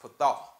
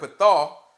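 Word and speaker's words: פָּתָה: So this word enlarge is actually a Hebrew word pronounced pathah. So the Hebrew word pathah, this is how it's translated in the King James Version.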